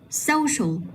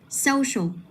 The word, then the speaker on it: social: Rồi tiếp theo tương tự này, social. Mình sẽ nhấn vào cái âm tiết là so, tại vì phía sau nó có đuôi so. Đây, social.